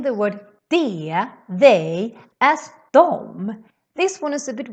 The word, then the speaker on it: de: So we say dom, dom, dom, dom, dom, dom, instead of de. For example, de är bra instead of de är bra, which is how we write it. But when we talk, we say dom.